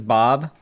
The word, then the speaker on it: B.o.B: the connection who is bob it's b dot o dot b it's not bob it's b.o.b it's how it's pronounced yeah that would be